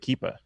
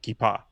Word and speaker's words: kippah: threw me off there cuz I I pronounce it keepa oh sorry or keep ah but because you're because